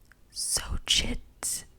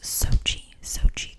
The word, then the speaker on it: Xochitl: Xochitl Gomez. I know I just completely butchered that.